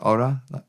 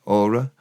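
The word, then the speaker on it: orau: Ora, best, is a soft mutation of gora, which comes from gorai. G-O-R-A-U, not the G off the front, not the E off the end. Ora, spelled like Rita Ora, Ora.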